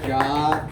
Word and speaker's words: Ja: Hey guys, it actually is Ja. I'm like Cher. I just go by single nouns and pronouns now. It is a traditional Chinese name, but it's pronounced exactly like the Rasta thing.